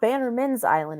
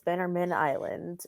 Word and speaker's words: Bannerman Island: explored Bannerman Island more, it's not Bannerman's Island, it's Bannerman Island. Not that anyone said it wrong so far, but I always have to think that because it's named after Bannerman.